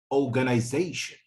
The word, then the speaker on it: organization: Okay, so in a word like organization, organization, organization. Okay, you would find that organize, the fourth syllable is stressed. Okay, so you would find that it's louder and clearer than the rest of the syllables.